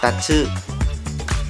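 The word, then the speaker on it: 竜: Ở đây, chữ kanji RYU được đọc là TATSU.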